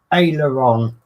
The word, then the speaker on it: aileron: a it's a trick there's a lot of people who don't pronounce it and i i struggle with it sometimes but it's aileron yeah and it's under